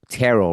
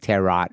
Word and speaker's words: tarot: but I didn't know tarot right I didn't even know how to pronounce it right I used to say like terat or whatever whatever.